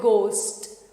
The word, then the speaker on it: ghost: And here we do not pronounce H, but we call it ghost.